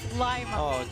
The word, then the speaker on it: Lima: in the midwest here there's no Lima Ohio it's Lima like you could tell a